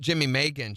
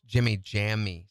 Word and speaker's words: Jimmy Jammy: It's not Jimmy Megan, Shiala. It's Jimmy Jammy. Say it right. Jimmy Jammy. All you have to do is change one letter.